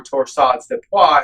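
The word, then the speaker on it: torsades de pointes: diagnosed specifically torsades or torsades de pois as properly pronounced.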